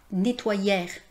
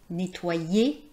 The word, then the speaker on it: nettoyer: Les deux lettres e plus r c'est pas \nɛ.twa.jɛʁ\, c'est pas \ty.twa.jɛʁ\, c'est pas \mɑ̃.ʒɛʁ\ c'est \ne.twa.je\ \mɑ̃.ʒe\ \ty.twa.je\ Je vous invite à